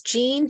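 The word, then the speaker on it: Jeanne: think it's by your name please sure it's Gene it's spelled j-e-a-n-n-e and my last name is spelled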